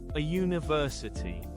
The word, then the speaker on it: university: The letter U sounds like Y in some words. So, we use a. For example, a university, a uniform.